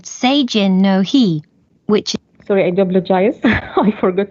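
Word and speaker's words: seijin no hi: a festival in japan the festival is called seijin no he which is spelled s e i j i n n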